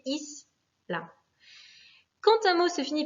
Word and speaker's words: isla: Le mot isla, pareil, finit par une voyelle, un A, donc c'est la première syllabe qui va être accentuée, isla.